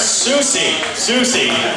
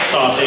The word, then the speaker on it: Soucy: My name is actually Soucy. However, I've never minded being called Soucy because that's kind of awesome.